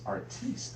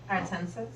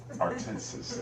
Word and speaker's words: Artensis: Got Keisha J, Lady Ray J, Bobby Boucher, Miss Artiste. Did I say it right? No. It's all right. Artensis. Artensis. That's right.